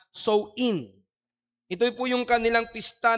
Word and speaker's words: Samhain: At ito po ay tinatawag na Samhain, or sa wikang Ingles, tinatawag nila ito o binibigkas ito na Sow-in.